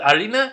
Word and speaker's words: harina: correct the first time harina is flower or arena they don't pronounce the h in that language but arena is flower so tortillas